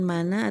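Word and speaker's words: مَنْ: disitu Man ya ingat ini bukan mana atau mani atau manusia membacanya tapi mannya Man kemudian ini ada kata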